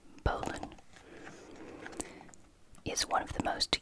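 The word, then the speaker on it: bowline: like bow line for good reason but it's pronounced poland is one of the most used knots it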